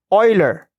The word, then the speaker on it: Euler: The name of that guy is Euler. Leonhard Euler. That is how you pronounce that surname, Euler. And so Euler is somewhat a prodigy.